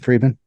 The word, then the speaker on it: Friedman: Is that how you say it, Friedman?